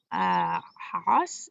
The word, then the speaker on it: Haas: I got the idea, I think it was from Carol Bishop Haas is how you pronounce her name.